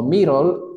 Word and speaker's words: middle: Middle La D de dedo la puedo convertir en R si solo si pronuncio rápido. Middle. Ahí escuchan, es una R, ¿verdad que sí? Middle. Y toda palabra que tenga la terminación LE se pronuncia OL.